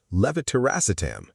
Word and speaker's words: levetiracetam: — DRUG 4: LEVETIRACETAM — Drug number four: levetiracetam.